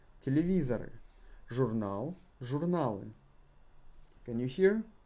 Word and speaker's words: телевизор: So, not emphasized O is pronounced as A.